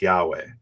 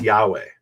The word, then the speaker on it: Yahweh: y HUV and then the last one is H which is usually silent at the end of a word okay so how do we pronounce that so the scholarly guess is that it's Yahweh and that's based on